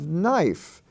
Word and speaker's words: knife: life wife we have knife knife is not spelled n-i-f-e it's spelled k-n-i-f-e which is also a spelling form for the consonant n in lesson 99 we